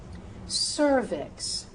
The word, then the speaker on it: cervix: If the word begins with the C and is followed by those vowels E, I, or U, that C should become an S sound, a soft C sound.